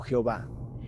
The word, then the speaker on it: Jehová: Y luego está Ibh que a menudo se pronuncia Yahvé o Jehová.